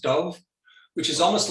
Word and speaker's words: Dubh: it's a it's a it's a letter that doesn't really exist in english it's slightly somewhere between a b and a v i mean that's why